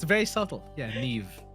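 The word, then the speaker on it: Niamh: And there's not even like when you pronounce it, I don't even hear the V there. I hear F. Like what the hell? Yeah, it's very subtle. Yeah. Nev.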